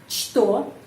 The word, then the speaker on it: что: Что kita melihat huruf C, tapi kita tahu dalam kata apa что huruf C pengucapannya что.